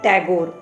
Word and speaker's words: टैगोर: ने कहा जाता था लेकिन अंग्रेज है ठाकुर दास को अपनी तरह से उच्चारण करके इसका नाम बदल दिया टैगोर यह लोग कलकत्ता में एक